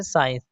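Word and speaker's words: science: यदि ई और आई से पहले और एस के बाद सी हो तो सी साइलेंट होता है। फॉर एग्जांपल के लिए जैसे साइंस दोस्तों यहां पे एस के बाद सी आया है इसलिए सी साइलेंट होगा।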